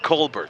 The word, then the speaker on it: Colbert: I got my pronouncer before the game, and you know how there's Stephen Colbert, the talk show host. Cheyenne apparently goes with Colbert? Colbert.